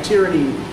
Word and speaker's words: tyranny: I know that tyrant is, you know, a person who practices tyranny, right? But yeah, tyranny is how you pronounce the word.